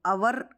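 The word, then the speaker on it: hour: ही इज़ आवर late, तो आवर यहाँ पर आवर दिया हुआ है और एच यहाँ पर साइलेंट है, इसलिए हम इसे अ पढ़ रहे हैं और वॉवेल की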